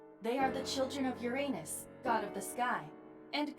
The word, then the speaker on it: Uranus: fit that profile second no it's pronounced uranus some people just change the way it's pronounced to make it sound less like your anus the timing of